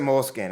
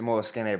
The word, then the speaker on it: Moleskine: I use the, I love a good, Moleskine notebook that and you can't pronounce it Moleskine. It's a Moleskine, by the way.